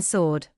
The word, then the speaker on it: sword: The w is silent in sword.